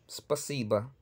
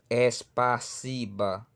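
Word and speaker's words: спасибо: Tenemos, por ejemplo, la palabra spasiba. Spasiba son tres sílabas que contamos. Spa, si, ba. Spa, si, ba. Spasiba. Spasiba. Y no es espasiba.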